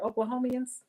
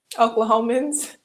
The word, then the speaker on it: Oklahomans: Oklahomians. Is that how you say it? Oklahomians? Oklahomans. Oh my gosh.